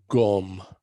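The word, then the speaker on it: སྒོམ: you know this is a word gum so in english we'd spell it g o with an umlaut over it m gum in tibet where they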